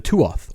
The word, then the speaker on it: tuath: The tuath or pronounced tua uh it means people or tribe in old Irish that was specifically designed for use for Irish whiskey.